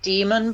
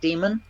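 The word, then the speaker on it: dæmon: evil in his world so clearly it means it's pronounced like demon yeah otherwise he would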